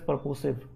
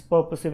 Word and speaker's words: purposive: either way the word is pronounced words typically pronounce it as perpositive but it's purposive actually so tell me the answer very easy